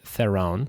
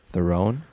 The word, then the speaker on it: Theron: I say Theron. Like That's Game of Thrones?